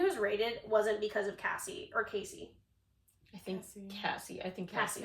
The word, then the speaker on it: Cassie: So after Casey's lawsuits, or Casey or Cassie? I'm so sorry if I'm getting her name wrong. It's Cassie.